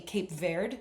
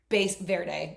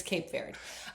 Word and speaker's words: Cape Verde: Verde base verde. I was like full on Spanish. Thank you. It's not. It's Cape Verde.